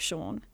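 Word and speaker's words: Siôn: his name is um his name is sean but it's written s-i-o-n which is the welsh welsh spelling of sean so i just tripped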